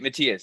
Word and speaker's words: Matthias: his name yeah no it's it's Matthias is like the normal oh okay I like